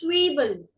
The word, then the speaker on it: Zwiebel: Z is pronounced as sir. Sir. So this is Zwiebel.